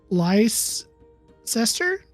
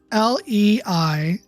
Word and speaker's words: Leicester: It's Leicester. I looked up how to pronounce it, and apparently it's pronounced Leicester. Well, you kind of pronounce Worcestershire the same way.